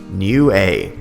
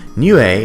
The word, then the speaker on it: Niue: to look up the phonetics and how to pronounce it and it is new a new a is an island country that is west of